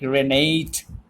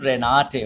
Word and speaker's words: Renate: If it is English, you can very much pronounce it like Renate. Okay, but not in German. In German, it will be pronounced as Renate.